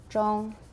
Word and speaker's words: zhong: same as gom right it rhymes with gong zhong where are we going